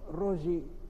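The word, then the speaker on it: Röyi: la obra ri rogi rogi no lleva dos puntitos Sí pero la pronunciación finalmente se es fonética es rogi Es rogi eh Bueno estamos con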